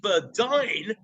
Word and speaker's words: Berdine: so I'm very very pleased to have Burdine from kicking Valentine okay Valentino fantastic pronounced it right yes sir just got the